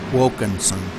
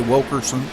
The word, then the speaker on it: Wilkinson: I pronounced that wrong it's Wilkinson I'm sorry did I say Wilkerson I apologize sometimes I